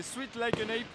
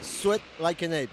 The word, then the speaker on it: Sweat Like an Ape: Bon, on retrouve le bassiste des Sweet Like an Ape. Ça se prononce ? Ça se prononce Sweat Like an Ape.